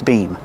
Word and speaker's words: beam: And we use the long E sound like green beans.